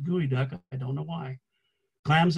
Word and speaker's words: geoduck: get things such as gooey duck clams i know it's spelled geoduck but everybody pronounces it gooey duck i don't know why